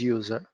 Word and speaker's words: USR: when I say USR some people pronounce it as user there is nothing wrong in pronouncing user but pronouncing it users sometimes give a wrong impression in your mind when I say user